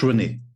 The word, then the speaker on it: René: I mean, René has an accent on the last E, which is saying not. Yeah, it's you're pronouncing it A, like in French.